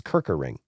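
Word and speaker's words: Kerkering: It's Kirkering. How do you pronounce his name?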